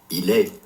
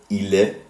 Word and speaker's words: il est: Notice how all of these verb conjugations end in a silent letter. In fact, the form used for il, he, and elle, she, and on, one, ends in two silent letters, s and t. As a result, neither of these letters are pronounced.